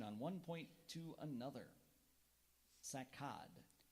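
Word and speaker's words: saccade: one point to another sakad are there any alternate pronunciations there is sakad can you repeat the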